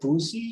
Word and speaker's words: Vusi: Accurate pronunciation of, is it Vusi or Fuzu? Oh, his full name is Vusamusi, but short, it's like Lucy with a V.